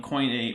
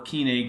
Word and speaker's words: Koine: You could say Byzantine Greek, but the Decalogue would have been written in Koine or Koine Greek, depending on which pronunciation you want to go for first century Greek.